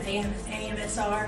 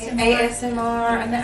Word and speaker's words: ASMR: Yeah, some AMSR. Is that how you say it? ASMR.